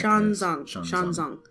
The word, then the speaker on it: Xuanzang: You would probably know better than I would in that Xuanzang. Yeah, because the X is like it's kind of like a sh.